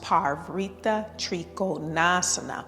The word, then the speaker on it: Parivrtta Trikonasana: It's pronounced Parivrtta Trikonasana, and it has 5 vinyasas, and the Drishti is the fingers, Hastagrai, Drishti.